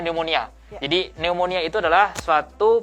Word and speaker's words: pneumonia: sering tahu ya bahwa ada kata-kata anemonia kita tulisannya pneumonia tulisannya ya Tapi bacanya dimonial jadi pneumonia itu adalah